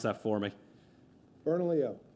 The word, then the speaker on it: Bernalillo: Bernalillo. Bern Bernalillo. Bernalillo. OK.